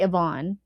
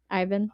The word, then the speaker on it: Ivan: I always want to say Yvonne, because the only AVIN I knew was Yvonne. The media book, the pronunciation says Ivan. Yep. I know. I always just naturally want to say Yvonne when I look at it, but I know it's Ivan. Even adding all this up